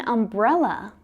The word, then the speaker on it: umbrella: Now, the U in umbrella is pronounced a, umbrella. So this time, the U is pronounced as a vowel sound.